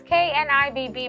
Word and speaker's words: Knibb: My kids are always like, Miss, it's -N-I-B-B, but is silent.